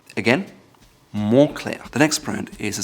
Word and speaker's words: Moncler: The next brand is known for their down jackets and winter gear, and it's often mispronounced as Moncler. However, the correct pronunciation is Moncler. Moncler. Again, Moncler.